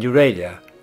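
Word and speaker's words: Nuwara Eliya: To overcome disappointment about the sea, we quickly sign up for a 3-day trip to Kandy and Euralia up in the Sri Lanka highlands.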